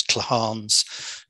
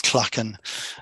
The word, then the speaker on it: clachan: So this is a traditional, I think in Ireland they pronounce them as clahans, in Scotland it's clachan, and about grouping houses around a communal space.